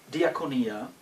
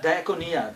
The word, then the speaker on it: diakonia: for the question it is a Greek word diakonia and you might know the word from the another Greek word which is dionos which we in English pronounce as deacon uh diaconia diaconia in Greek means service diaconos is a servant